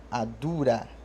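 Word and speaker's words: àdúrà: segunda sílaba é alto da mesma forma com adura adura adura adura significa oração babá significa pai então adura a dura a sílaba do meio é mais alta por consequência e com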